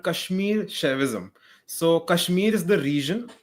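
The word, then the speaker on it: Kashmir Shaivism: So, how is this pronounced your your branch of religion here? Yeah, it's called Kashmir Chavism.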